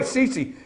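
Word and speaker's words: Sisi: can't say his name you got it right CeCe you actually got that right that's the way they pronounce it on those big fancy networks so CeCe there okay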